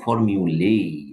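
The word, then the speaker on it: formulae: এগুলো দেখেন, এগুলো ল্যাটিন থেকে আগত, মানে যদি এ থাকে তাহলে এই হয়ে যায়, তাহলে অ্যান্টেনা অ্যান্টেন নেই, উচ্চারণটা আমরা দ্বিতীয়টা দিব না। ফর্মিউলা ফর্মিউলেই, লেইটা দিব।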